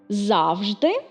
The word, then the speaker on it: завжди: Завжди і завжди.